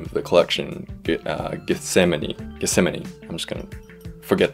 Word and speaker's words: Gethsemane: gethsemane that's it that's i had to look up how to pronounce that but yeah i just kind of